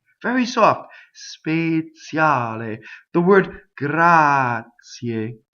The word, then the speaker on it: grazie: The word grazie. You can speak and say grazie, right? When you sing, you have to be grazie.